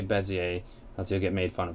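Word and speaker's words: Bézier: it's spelled it's called sounds like desire but it's not and people you will hear people say it like that and it's funny but don't ever say desire I always say bezzie a let's go get made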